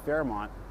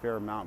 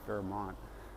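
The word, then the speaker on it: Fairmount: that sign up there it's spelled no you can't see a spelled Fair mount but El Cerrito is funny we have a lot of street names that we we don't uh say phonetically so we call it Fairmont I don't know the history of that but that's what everybody calls it not fair amount but Fairmont it's kind of funny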